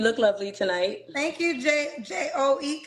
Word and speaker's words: Joe: J O E. How you say it? J O H. I don't know how you pronounce it.